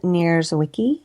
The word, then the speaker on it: Nierzwicki: oh absolutely my my handle is always near Wiki and my last name's kind of hard so I'll spell it it's n i e r z is